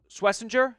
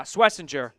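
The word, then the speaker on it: Schwesinger: Swissinger. Yeah, Swissinger followed by Jaden Higgins.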